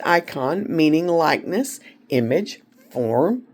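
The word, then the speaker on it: εἰκών: look at the Greek word icon again it's pronounced icon on meaning likeness, image, form or representative.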